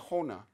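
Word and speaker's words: होना: But Hindi uses the infinitive hona. When Nepali is pronounced huna.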